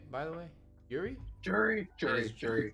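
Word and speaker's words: Juri: 2-1 Yuri. I'm pronouncing that right. Right, by the way? Yuri? Jury.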